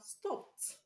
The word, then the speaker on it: stopped: So we have stopped, which is the correct answer. We have wept, wept, and stopped. The two of them have the t sound at the end.